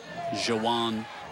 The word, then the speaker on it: Zajon: Spanish Fort will go to 2-0, and there's Zajon Poe, who was on pregame show with us, and just a delightful young man. Yeah, stole the show. Jawan, correctly pronounced there by the play-by-play guy.